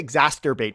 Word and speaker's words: exacerbate: I never know how to say it. I say exacerbate, but there's definitely no T in there.